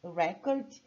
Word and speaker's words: record: record na natação né agora tem o verbo Record que é registrar gravar lançar de forma contábil então a sílaba tônica mudou agora vai lá pra segunda parte Record Então veja a diferença